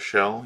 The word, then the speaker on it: 5hell: using uh Pluto's uh shell tool um and that's it's pronounced shell but it's it's uh you know instead of the S it's a five so it's it's five